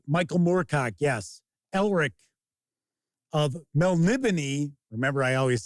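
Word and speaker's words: Melniboné: Remember, I always say that for decades I called it Melnibone. So did all my friends. So I got an audiobook, and I was like, oh, so they want to pronounce it Melnibone, eh?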